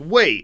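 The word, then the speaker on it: 为: Right, so this character Wei can also be pronounced Wei. It's both. So it depends on the context. Usually in the character Imwei, or the word Imwei, it's pronounced 4th tone, but sometimes people pronounce it Imwei. And if you're going to say Weila for something, for the purpose of Weila, that'll be 4th tone pretty much always.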